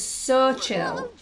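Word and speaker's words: Xochitl: Ashley hail 5755 said the lovely lady's name is pronounced as so chill so chill I looked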